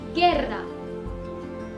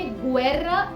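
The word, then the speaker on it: guerra: तो एक बात और, अगर हे के बाद ऊ है तो उसे प्रोनाउंस नहीं किया जाता, यानी कि जब भी आपके पास खे ऊ ए या खे ऊ ई साथ में होंगे तो आप उसे प्रोनाउंस करेंगे के और गी। जैसे गेर्रा, गेर्रा। अब इस वर्ड को हमने गुएर्रा नहीं बुलाया है, हमने इसे बुलाया है गेर्रा।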